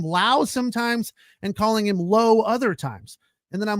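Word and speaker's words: Lowe: it come on it's low L we is low if you want your name to be it's right it's not L we it's low and low it's always low can't stand why people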